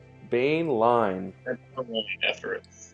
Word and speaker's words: Boehnlein: Boehnlein. Think of Bane, like the villain. Boehnlein.